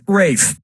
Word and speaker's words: Ralph: honestly yeah ray Fiennes first name is spelled like Ralph but pronounced Rafe and his brother Joseph